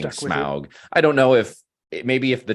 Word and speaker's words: Smaug: First, the archers with Bard when he kills Smaug, and then later when the soldiers are marching in the battle of the five armies.